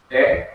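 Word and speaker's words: דרך: Derek, the first syllable, right next to the last syllable, has this accent mark.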